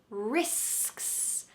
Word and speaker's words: risks: section with sks is risks risks let's do the same thing that we've been doing before separate the first part from ks risks risks say it